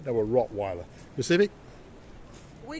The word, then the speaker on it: Rottweiler: need a German Shepherd or a w a wattweiler no a Rottweiler Civic we call it rot Yeah in our pronunciation we say rer rotw rotw and there